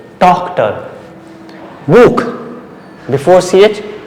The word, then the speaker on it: Buch: Buch, before ch U, Buch.